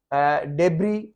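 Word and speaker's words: debris: और यहाँ पे ये डेब्री है, डेब्री, इसको बहुत मिस प्रोनाउंस किया जाता है, जो कचरा वगैरह होता है तो उसको कचरे को ये एस नहीं पढ़ा जाता, डेब्री है।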